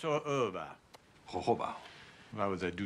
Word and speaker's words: jojoba: It's spelled jojoba. It's pronounced jojoba. It's spelled jojoba, but it's pronounced jojoba.